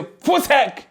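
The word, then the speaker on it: voetsek: When you welcome them to say, welcome to America, you say, voetsak. Repeat again, voetsak. That's how you say it.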